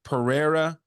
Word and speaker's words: Pereira: The H sound. Remember, I was telling you this last week. Pereira is the correct way to say it, but So that's just for Portuguese, like Brazilian people.